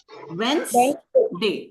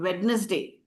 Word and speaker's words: Wednesday: not it is not witness day D is silent there you write we e d n e s d a y but the first d is not pronounced another word okay let's